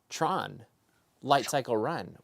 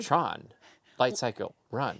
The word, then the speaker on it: Tron Lightcycle Run: Speaking of the future, Tron Lightcycle Run will soon be open at the Magic Kingdom.